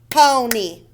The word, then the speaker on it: pony: Pony. Pony is two syllables. The Y at the end makes E.